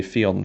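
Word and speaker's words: Theon: shame he didn't say fion Fon it rhymes with peon or something like that but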